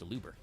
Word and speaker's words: Aluber: I think it's also because people can't pronounce the name for shit. It's really not that hard. It's used Aluber.